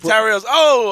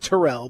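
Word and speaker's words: Tyrrell: I think he pronounces it Terrell, but that's either way. That's still either way. Tyrell and Terrell.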